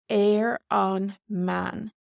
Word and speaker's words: ar an mbean: ban for a woman but on the woman is air on man so our B takes an m and then we lose the B sound and it's air on man so funnily enough woman